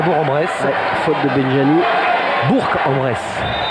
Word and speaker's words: Bourg-en-Bresse: Bourg-en-Bresse. Il faut prononcer le G, sinon on va se faire gronder.